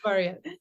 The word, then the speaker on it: VARYA: Am I pronouncing that correctly, by the way, VARYA? Or Yeah, you are. okay, yeah. Yes, VARYA. Yeah.